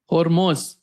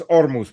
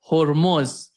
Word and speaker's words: Hormuz: they put in Persian they say Hormuz. As in but in English we call we we pronounce it Hormuz, yeah. And Russian it's just it drops the H sound period and just pronounces it Armuz.